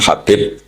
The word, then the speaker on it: Habib: Ada yang nulis Abi Abdurrahman Habib Asulami. Itu di harakatnya kitab itu ada yang nulis Hubab. L yang benar. Oh, nggih. Yang benar itu bacanya habib.